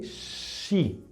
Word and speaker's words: she: Y después tenemos ella, se dice she, ¿sí? Esta SH suena como cuando decimos sh, ¿ok? She, ¿ok?